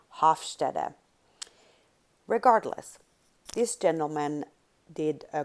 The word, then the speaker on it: Hofstede: US or in Europe, you will probably pronounce his name differently. So here in the US, we would probably call him Gert Hofstede. And if I pronounce it correctly, he was from Holland, and the Dutch, I believe, would say Hofstede.